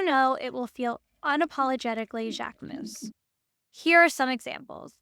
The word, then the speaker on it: Jacquemus: You don't know what he's going to do next, but you do know it will feel unapologetically Jacquemus.